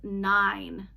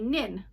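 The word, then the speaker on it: nine: When you read and you see the E, the silent E at the end of this word, you know that that word says 9. And if that E was not there, it would say nin.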